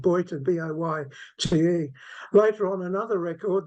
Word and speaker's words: Bojte: And the information had that she was born in a town called, spelt in Hungarian, B-O-J-T-E, pronounced in Hungary, Bojta.